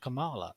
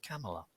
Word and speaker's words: Kamala: from kamala harris and it's not it's not pronounced kamala it's pronounced camella by the way ew well did you know